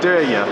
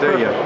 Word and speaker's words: Derya: Derya. Yeah, Derya. Perfect. Derya. Derya. Yes. I know it's difficult to pronounce, but they are worse than ours in Turkish language.